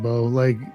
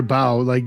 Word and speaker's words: bough: As he was following the moose, suddenly looking ahead, he saw a little bow shelter. I get, well, okay. How's it spelled? Bough. Yeah, like bow, or bow, deck the halls with boughs of holly.